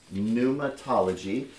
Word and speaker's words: pneumatology: my heart and uh you know studying uh pneumatology by the way is how you say this pneumatology uh we'll break down the word a little